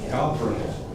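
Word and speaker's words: gabbro: Again, it's called indigo gabro and gabro is G A B R O.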